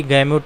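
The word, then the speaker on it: gamut: दी गैमुट आप या गामुट कुछ भी आप प्रोनाउंस कर सकते हैं।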